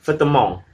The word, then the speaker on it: vêtements: Sedangkan untuk bahasa Prancis, mereka menyebutnya les vêtements, dengan V di depannya. Cara bacanya seperti nama salah satu tempat distrik di Surabaya ya, Petemon.